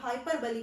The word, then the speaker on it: hyperbole: तो ये बिल्कुल ग्रामेटिकली अगर देखते हैं तो इसका जो ये प्रोनाउंसिएशन है बिल्कुल गलत है, क्योंकि ये हाइपरबोल नहीं, इसको हाइपरबली कहा जाता है।